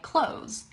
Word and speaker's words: clothes: actually pronounce it like clothes like close the door I'm wearing some clothes you can pronounce it the exact same way you pronounce the word to close the door you don't have to